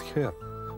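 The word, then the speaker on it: Herr: Auf Wiedersehen, ваш Герр ДК. Вообще-то они произносят «хер», но по-русски это звучит двусмысленно.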